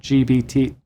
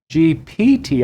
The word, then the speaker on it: GPT: playing around with uh chat gbt GPT I keep saying it wrong I don't know why I keep putting that b in there but um the AI